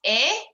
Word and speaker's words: et: about branch is that when it's et it's a but i feel like any other time you have just e and another consonant it's uh um yep it depends on where the e falls in the word and the consonant following it but it means and so anytime you see that just on its own it will always be a cool all right so